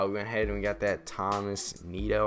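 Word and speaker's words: Tomás Nido: ahead and got that thomas neato i believe is how you say it moment done i'm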